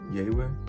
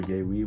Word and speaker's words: Yaywe: aka Yewe or Yewe, whichever way you want to pronounce it.